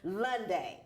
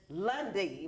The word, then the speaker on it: Lundy: I say it's Lunday, but he said it is Lundy, right?